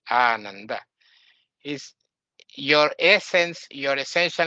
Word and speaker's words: Ananda: In really, it's not Ananda, it's Ananda. This is the right pronunciation, Ananda.